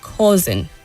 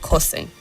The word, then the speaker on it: causing: And the word is causing and not causing.